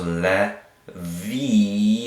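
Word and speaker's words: לוי: Lamed with an e sound, le, a vav with a e sound, so le, vi, and then a yod to kind of finish it off with that y sound at the end.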